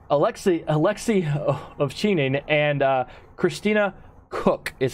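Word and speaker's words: Koch: Hague Alexei Alexei Alexei of Cheney and Christina cook is how you pronounce her last name they took an expedited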